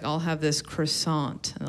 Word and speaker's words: croissant: like I'll have this croissant and the lady was like it's croissant the tea is silent so I was like